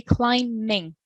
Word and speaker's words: climbing: Remember, the B is silent. We don't pronounce it. We say climbing.